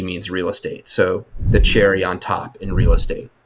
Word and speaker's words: Cherre: behind this 90% company being pronounced as Cherry but written as c h e r r e so I asked that